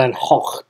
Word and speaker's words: Van Gogh: Van Gogh well then I think it's pronounced the van hock don't quote me on